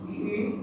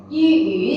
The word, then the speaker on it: 鱼: Okay, 鱼 second tone. 鱼 fish.